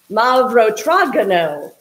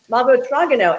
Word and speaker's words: Mavrotragano: And then the red, I have to refer to my phonetic pronunciation. Mavrotragano, I got the thumbs up. Yay, I just got like the emoji thumbs up, but in real life, Mavrotragano.